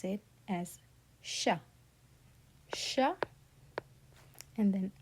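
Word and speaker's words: chat: So we would pronounce it as sha sha and then a. Okay. So sha Sha T is silent because it is not in careful.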